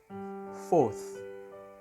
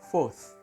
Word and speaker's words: fourth: ketiga third third third yang keempat fth fth lidah digigit fth yang kelima fifth fifth